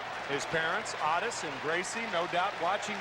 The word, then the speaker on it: Otis: balls and two strikes Otis Nixon is known as Otis Nixon in his home down of Evergreen North Carolina that is the way his father's name is pronounced his parents atis and Gracie no doubt